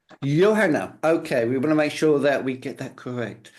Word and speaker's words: Johanna: Of course, it's Johanna. Johanna.